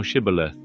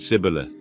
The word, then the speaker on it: Shibboleth: If he said, Nay, then said they unto him, Say now Shibboleth. And he said, Sibboleth, for he could not frame to pronounce it right.